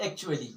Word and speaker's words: actually: They are A, C, T, U, A, L, L, Y is not actually, but it is actually. This is actually.